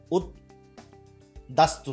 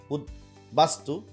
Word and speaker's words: উদ্বাস্তু: তো এখানে উদ্বিগ্ন, উৎ যোগ বিঘ্ন, তো উদ্বিগ্ন, এখানে উদ্বিগ্ন, তাহলে এখানে বয়ের উচ্চারণ কিন্তু হচ্ছে উদ্দাস্তু না, উদ্বাস্তু, উদ্বাহু। এখানে উদ্দাহু অনেকেই বলে থাকে, না এটা একদম উদ্দাহু না, এটা হচ্ছে উদ্বাহু।